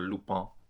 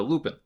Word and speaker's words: Lupin: i learned a little bit about lupin or lupone as they say in the show but i'm saying lupin because i'm american and we mispronounced stuff all the time so lupin it's uh so i i mentioned lupin the